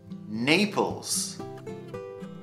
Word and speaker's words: Naples: Moscow Moscow munich munich naples naples so a lot of the italian cities are pronounced in japan using the Italian pronunciation or the Italian way of saying so Napoli in English we say Naples Paris Paris this one